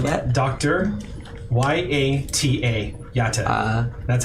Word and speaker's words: Yata: Could you spell that? Dr. Y A T A Yata.